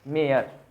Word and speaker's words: Mare: Note हमारे यार, मेयर, that is the pronunciation, मेयर, Walter della मेयर।